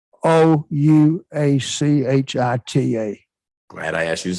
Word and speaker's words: Ouachita: I was in Camden, Washita County, excuse me.